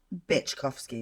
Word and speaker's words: Byczkowski: But is it pronounced Byczkowski?